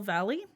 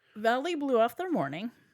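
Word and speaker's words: Vallely: Sharp emails some of Wayne's powerful friends, namely Paul Valley. I think it's pronounced Valley, but it's spelled Valley.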